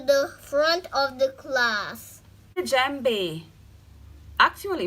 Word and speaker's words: Djembe: Djembe, actually pronounced Djembe, is a drum shaped like a